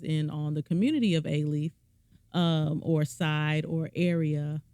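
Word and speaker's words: Alief: I went to uh aaf schools and aaf is spelled a l i e f kind of like Rel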